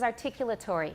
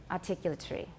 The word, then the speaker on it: articulatory: articulatory we say articulatory so how many syllables do i have articulatory i have six and how many does my british teacher have articulatory he has five the last one is sort of a semi syllable articu articulatory tree it's not really tree it's turi there's a very short schwa it's hard to count them but that's the way he says he says it okay sometimes native speakers will